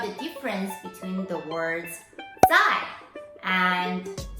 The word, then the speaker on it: 在: It's very normal for people to get those two words confused because they sound the same, they're both pronounced as 在.